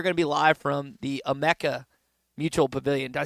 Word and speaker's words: Amica: We are gonna be live from the Emeka Mutual Pavilion. Did I say it right? I think that's right. Okay. AMICA, right? And that and I spelled it out UH-ME-CA.